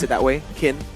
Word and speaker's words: Qin: Chin. Pronounce it that way. What? Sometimes they pronounce it that way. Kin. Q I N. It's Q I N. You can like Chinese pronunciation or I think so.